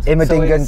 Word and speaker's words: Immendingen: Immendingen so test track.